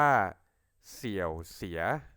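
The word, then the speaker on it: 小学: เลย ครับ คำ แรก เลย ครับ อ่าน ว่า เสี่ยว เสีย ออก เสียง ตาม หรือ ซื้อ นะ ครับ เสี่ยว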